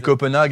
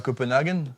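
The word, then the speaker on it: Copenhague: On dit Munique et pas Mon On dit Munique et pas on dit Copenhag et pas Copenhagen.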